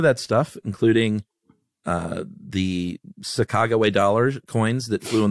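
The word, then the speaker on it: Sacagawea: things where like the the native pronunciation is Saga way and Americans were like saaka jaia no oh my God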